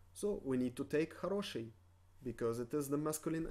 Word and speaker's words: Хороший: So we need to take хороший, because it is the masculine adjective. Хороший. Хороший. Хороший. With the emphasis on the second O, so we pronounce the first one as A.